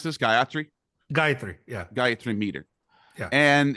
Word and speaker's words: Gayatri: How do you pronounce this? Gayatri? Gayatri.